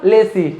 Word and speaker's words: lessee: तो देखिए एक चीज और बोलना चाहेंगे कि राइट प्रोनाउंसिएशन क्या है आपका, लेसी होगा। क्या होगा, लेसी, लेजी नहीं होगा जी, क्या होगा, लेसी, ठीक है। तो लेसी बोलेंगे, इसका क्या है, राइट प्रोनाउंसिएशन है लेसी, ठीक है।